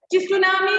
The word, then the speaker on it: tsunami: And T is silent there. Tsunami nalla parayunnathu.